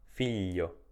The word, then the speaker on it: figlio: che abbiamo visto sopra GL i o si legge gli figlio aglio GL iu si